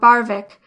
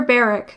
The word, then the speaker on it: Barwick: Barwick by the elder people has always been called Barvik after the fashions of Danes and Northmen, never Beric as the word has so long been pronounced in modern England.